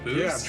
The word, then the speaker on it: BUICED: Yeah, Boost. Boost. I just like saying that word. I loved the name of Boost. The brand is actually spelled like the word juiced or pronounced like the word boost.